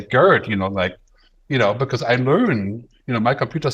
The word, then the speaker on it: Gerd: machine could say, oh, Gerd is spelled Gerd. It's not an English name, it's a German name. Therefore, I'm not going to say nerd or turd, or I'm going to say Gerd, because I learn, my